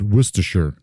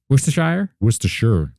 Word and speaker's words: Worcestershire: Apparently it's Worcestershire. Worcestershire. Yeah. Apparently that's how you pronounce that.